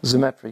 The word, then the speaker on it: Zemetra: I'm a resident here in Lake Wildwood, have been for 2.5 years, and I'll be interviewing Zemetra. Did I pronounce that right? Zemetra, yes, thank you.